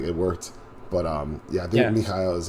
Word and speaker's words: Mikhail: Mikhail is how you pronounce it. Yeah. And we went with Michael when we were having a conversation with him